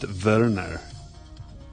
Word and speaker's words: Werner: joey weimer and a werner blakely i feel like i should pronounce that verner verner bag number two